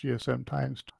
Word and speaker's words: GSMx2: gchq um Message Board GSM X2 pronounced GSM times um and I'll be